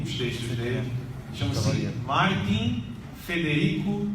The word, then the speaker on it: Federico: audo no i Martim Federico não é Frederico fe fe Federico e chavaria assim que